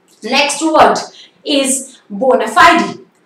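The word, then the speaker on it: bona fide: Next word is बोनाफाइड. कुछ लोग इसको बोनाफाइड भी बोल सकते हैं. बोनाफाइड is also the right pronunciation, but the exact pronunciation is बोनाफाइडी, बोनाफाइडी.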